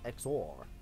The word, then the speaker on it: XOR: Yeah, how do you pronounce that? Is it like Thor? I was going to say 4 as well, but then I thought, no, it's Exor. Exor.